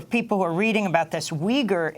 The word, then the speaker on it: Uyghur: were reading about this Weger is spelled uy GH you are that's we gir we're joined also by